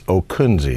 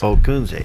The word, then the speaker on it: Ockunzzi: us the proper pronunciation the pronunciation is okuni it's okuni three syllables okay now you being